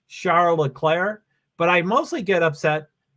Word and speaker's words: Charles Leclerc: to say his name I'm pretty adamant about being charola Claire but I mostly get